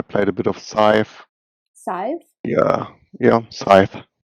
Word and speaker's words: Scythe: than that i played a bit of scythe size yeah yeah scythe how do you spell that s-c-y-t-h-e i've never heard of it